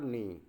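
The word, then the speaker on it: knee: है की एंड डब्ल्यू इसमें जो नी में जो के साइलेंट है बेटा की आवाज़ नहीं देता है इसमें नी माने कहते हैं घुटने को इसको किनी नहीं पढ़ेंगे नी पढ़ेंगे ए बर्न और आर्म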